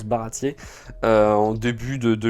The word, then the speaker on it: Baratie: Voilà, ça ça se prononce Baratier euh en début de de l'histoire, mais c'est